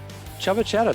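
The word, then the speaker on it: Csaba Csere: Chubba Cheddar. That's actually how you pronounce his name. I know it sounds weird, but that's Interesting true.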